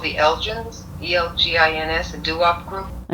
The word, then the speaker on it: Elgins: It's Elgins.